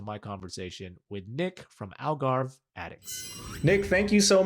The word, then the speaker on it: Algarve: are located in portugal in the it's the algarve right that is the correct pronunciation of where you are located absolutely it's the algarve it's the southernmost portion of portugal um and